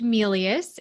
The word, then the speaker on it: Melious: you spell it for us yes and it's pronounced melius and it's m as in mary e-l-i-o-u-s emily